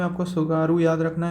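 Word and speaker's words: Tsugaru: Hokkaido और Honshu के बीच में जो स्ट्रेट है निकलती है वो है सुगारू स्ट्रेट। टी से इसका स्टार्ट होता है, टी साइलेंट है, उसका नाम है सुगारू स्ट्रेट।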